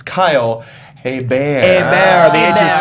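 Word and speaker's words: Hebert: it's Kyle hey Bam hey bear The Edge is silent so think like a bear is attacking Leo DiCaprio yes total revenue uh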